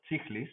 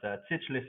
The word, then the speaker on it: Tsichlis: Well, it's Greek, so I mean there are some letters that don't exist in the English language, so it's Tsichlis, but Tsichlis is fine.